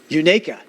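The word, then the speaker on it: Unicoi: if you shall receive I did get a pronunciation oh good Unica Unica uh now I know now I know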